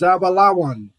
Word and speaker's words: Zebulun: And the way you say their name in Hebrew is Zabalawan.